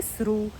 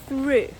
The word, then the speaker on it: through: Наприклад, я розумію, що декому тут би сподобалось вимовляти це слово як сру, але guys, це не сру. Ставимо язичок між зубки і вимовляємо through.